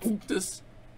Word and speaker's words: Unctus: Yeah, it's pronounced Unctus, just so you know.